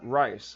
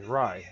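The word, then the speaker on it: Rais: Let's go kill this guy, Rice, or whatever his name is. Rye. That's how you say it, Rye, yeah. I always call him Rice.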